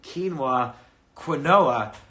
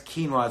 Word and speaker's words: quinoa: So, and I kept pronouncing quinoa until finally I had on famous vegan Rich